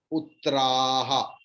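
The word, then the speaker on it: पुत्राः: Ami Chatvam Dhritarashtrasya putraha. Ami Chatvam Dhritarashtrasya putraha. कोई बोलने से ऐसे हो जाता है पुत्राहा. It's absolutely wrong because pu is short. Putraha. A will be prolonged.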